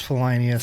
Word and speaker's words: Felinious: It's like every time when somebody says Felinious, I'm like, it's Felinious. God damn it.